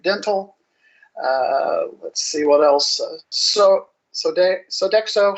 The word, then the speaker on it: Sodexo: It's Sodexo.